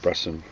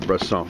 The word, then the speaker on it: Bresson: uh that's all right i think it's robert bresson now that i think about it since it's french but anyway uh here's